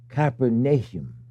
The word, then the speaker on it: Capernaum: how you say it we now say Capernaum it's actually capernum because the work of